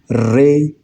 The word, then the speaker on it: re: Then after do comes re, as in rays of the sun. So the tone should be like rays.